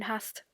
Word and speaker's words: hast: Maybe, if you are very attentive, you may have noticed that although there is a single s after the a in hast, it is pronounced sharp, as if there were two s, or sharp s.